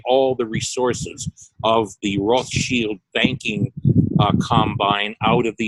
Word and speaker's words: Rothschild: or Jacob Rothschild whose family name is usually mispronounced as Rothschild but was in fact derived from the german word russia which means red shield who has withdrawn virtually all the resources of the roth shield banking combine out of the united states one